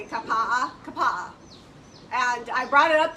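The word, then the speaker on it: Kapaʻa: That's how you say it, Kapa'a.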